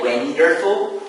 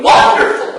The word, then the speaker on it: wonderful: Okay, so the stress is on the first syllable, which is this one. So, one. So we don't say wonderful, so we say wonderful.